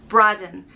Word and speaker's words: Braddon: Next up is Braddon, and it means broad hillside, and it's pronounced Braddon, and it's spelled B-R-A-D-D-O-N.